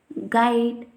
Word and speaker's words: guide: If we see the condition, U is silent when it comes after G and before vowel in a word. If we see the examples, guide, guest, guard, guess, etc.